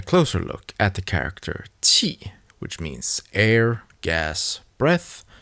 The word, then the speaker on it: 氣: Cloud vapor is read as qi, while presenting food is pronounced xi.